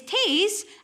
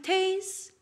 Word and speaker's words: taes: In English, it's toes and nose. Aye, that's right. Toes and nose. But in Scots, toes is Taes and nose is neb. And neb doesn't rhyme with Taes. Neb and Taes.